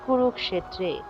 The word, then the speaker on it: কুরুক্ষেত্রে: আগে এসে যুক্ত হয়েছে তারপর দেখুন লিখা আছে কুরুক্ষেত্রে একইভাবে এখানে হবে কুরুক্ষেত্রে অর্থাৎ খিয়কে ভাঙলে হবে হসন্ত যুক্ত ক যোগ মধ্যন্স আর একার থাকার কারণে একারটি এসে মধ্যসের আগে যুক্ত হয়েছে তাহলে এর উচ্চারণ হলো কুরুক্ষেত্রে কুরুক্ষেত্রের শুদ্ধ সংস্কৃত উচ্চারণ কুরুক্ষেত্রে ধর্মক্ষেত্রে কুরুক্ষেত্রে তারপর দেখুন